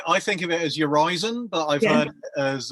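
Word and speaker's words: Urizen: think of it as yourison but I've heard as urisen your reason all kinds I think of it as your rizon a bit like Horizon something yeah so not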